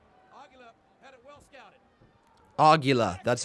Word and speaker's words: Aguila: Aguila. That's how you pronounce his name.